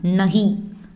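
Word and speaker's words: नहीं: இது கொஞ்சம் மரியாதையாக நீங்கள் அப்படின்னா ஆப் அப்படின்னு ப்ரொனவுன்ஸ் பண்ணணும். இல்லை. இல்லை அப்படின்னா நஹி.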